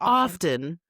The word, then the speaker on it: often: Yeah, it's often. Nope, there's no T. It's silent.